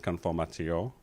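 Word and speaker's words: conformateur: It's called conformiter. Okay. And if I was to pronounce it correctly, this is how I normally introduce it to the client, conformatio. Okay. It's French invention.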